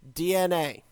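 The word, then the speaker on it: DeNA: n capital a d I've been told it's pronounced DNA yeah and so DNA has actually had their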